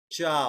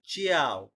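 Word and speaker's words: ciao: হ্যাঁ জেলাতো, কাফে, জেলাতো চাও। কাফে ওকে, চাও এখানে একটা সমস্যা আমি দেখলাম যে অনেকে যেমন এটাকে বলে চিয়াও, মানে চিটা উচ্চারণ হয়, তারপর ফরমা জিও বলে, তারপর জিওর নালে।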